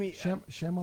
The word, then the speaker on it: Shyamalan: And help me with the pronunciation of this guy. M. Night, what's his name? Shyamalan.